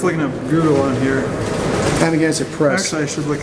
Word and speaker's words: Amagansett: So I'll spell it for you because it's an old Indian Montaukett tribe word. So it's Amagansett, AMAGANSETT.